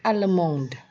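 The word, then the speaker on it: allemande: Jerman ile alemong Ele alemond Jadi kalau di sini ada perbedaan tulisan dan juga perbedaan pengucapan untuk yang maskulang ile alemong jadi d-nya tidak diucapkan untuk yang feminang El alemond jadi d-nya menjadi diucapkan lalu lepiba atau negara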